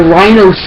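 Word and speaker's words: RYNO: The only weapon that I believe is brand new is the Rhino 7.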